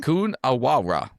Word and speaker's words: Coonawarra: Can you pronounce it again? Coonawarra.